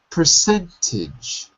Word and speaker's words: percentage: And look at the ending of the word percentage. Percentage. Not a, I. Ah. Percentage. Percentage. That's it. Very good. Okay. That's true for all words in the English language. We don't say the vowel sound if it's not stressed. The syllaba tonica. Percentage. The stress is cent.